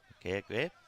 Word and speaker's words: McGregor: I believe that's pronounced with a G. McGregor.